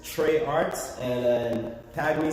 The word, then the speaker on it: Tray: Trey spelled with an A, not with an E. I know a lot of people have been spelling my name with an E. And in Guyana, that's Tree.